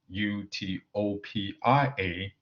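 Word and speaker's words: eutopia: from the fact that in English Utopia u-t-o-p-i-a no place and Utopia e-u-t-o-p-i-a good plays are pronounced the same however most contemporary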